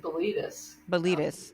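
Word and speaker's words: Bilitis: concerned sure and that's is it the light is billetus the daughters of I think some people uh pronounce it belitus so let's say that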